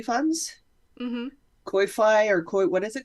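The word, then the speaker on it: Ko-fi: me a cup of coffee funds koi fi or koi what is it called I think it is it's pronounced coffee but it's like k-o-f-i why yeah and uh occasionally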